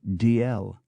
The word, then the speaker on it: Dalziel: There are two barons, Dalziel. One pronounces it Dalziel, the other DL.